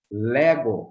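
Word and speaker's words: λέγω: Então, um exemplo aqui da palavra Lego. Lego, olha só a pronúncia forte no épsilon. Lego tem o som mais forte no épsilon, certo?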